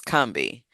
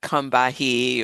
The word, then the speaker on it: Combahee: But people from the region pronounce the name of the river the same. It's Kami. It's not Kahi or I hear I hear all kind of stuff.